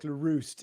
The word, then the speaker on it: LaRoost: First of all, just for anyone listening, my name is LaRoost. It's a very difficult pronounceable surname for anybody outside. LaRoost. Okay. LaRoost, like LaRoost is on fire. Oh, there you go. LaRoost. Yes. LaRoost is on fire. That's how you can remember it.